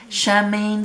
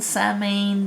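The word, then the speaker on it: Samhain: Shamain, Samain, depending on how you pronounce it.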